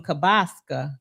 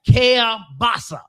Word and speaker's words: kielbasa: And I think mama was cooking some kabaska kabasa. Am I saying it right? You can't even say it. No, I can't say it. But anyway, kielbasa Grandmama got so mad at Tony and